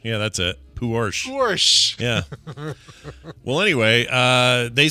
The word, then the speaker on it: Porsche: so it is Porsche?